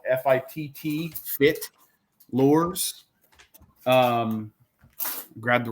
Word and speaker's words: FITT: One of them is called FITT Lures. Grab the wrong. No, that's I think you mispronounced that. That's feet. FITT Fit Lures. Oh no, So, no. I thought you said FIIT. No.